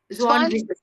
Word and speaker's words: Zwanzig: Ein und Zwanzig. அந்த ஜிக்கு வந்து என்ன மேம் ப்ரொனவுன்ஸ் பண்ணனும்? Zwanzig. இஷ். ஓகே. இஷ்ல முடியணும், கரெக்ட்டா? ZIG. Zwanzig.